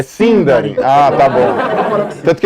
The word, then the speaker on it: Sindarin: Ele vai, a partir de agora, o resto da palestra é em Sindarin. Você errou a sílaba tônica. É Sindarin.